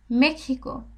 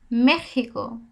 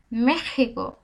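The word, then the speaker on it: México: এর উচ্চারণ কেমন হবে মেক্সি আমি কিসের মত উচ্চারণ করছি একটু কয় মধানসর মত না মেখিকো মেখিকো মেক্সিকো দেখেন মেক্সিকো আমরা নরমালি ইংলিশে বলি কি মেক্সিকো মেক্সিকো কিন্তু এখানে তা হবে না এখানে একটু এর মত উচ্চারণ হবে মেখিকো আমি কি পড়তেছি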